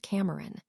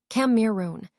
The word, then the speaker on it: Cameron: And the lady whose legs you're hugging is called Cameron. Camirun, she says, gazing up at me. This is an invalid pronunciation, but I do not correct her.